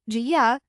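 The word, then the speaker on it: 家: The pronunciation jia has a flat, steady tone like the stable foundation of a home.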